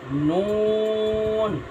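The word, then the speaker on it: نون: নুন, নুন হচ্ছে নয় নম্বর মাখরাজ, নয় নম্বর মাখরাজ জিব্বার আগার কিনারা তার বরাবর পরে তালুর সঙ্গে লাগাইয়া উচ্চারণ হবে নুন।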